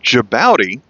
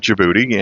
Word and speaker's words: Djibouti: and he pronounced it jabouti. And ever since then, I've had trouble remembering. I always called it Djibouti and I just wondered if it's one of those things where everyone just was mispronouncing it here in America. And he knew how to pronounce it, but uh no, apparently it really is called Djibouti.